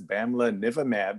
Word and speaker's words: bamlanivimab: So as you all know, the BLAZE trial for, I have trouble pronouncing this, Bamlanivimab, I call it BAM, was published in the New England Journal of Medicine, only had 233 patients in the treatment arm.